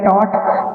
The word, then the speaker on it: taught: Third form same रहेगा, इसमें हमारा UGH साइलेंट रहता है। जो हमारे 3 अल्फाबेट आपको दिख रहे हैं UGH, ये साइलेंट रहने वाले हैं, सिर्फ TAT बोलेगा, टॉट, टॉट का साउंड आएगा, टॉट।